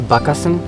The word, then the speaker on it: Bakasana: are translated into english most of the words will be added with a behind so it becomes yoga for example the names of the yoga poses like bakasana crow pose padmasana the lotus pose so they are actually bhakasan and pakmasan in sanskrit so yolk or yoga